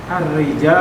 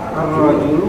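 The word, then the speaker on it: الرجل: Arrijal. Ah, bukan rijal ini. Ingat-ingat ya bacanya ya. Ar arrajulu arrajulu fil masjid sahih.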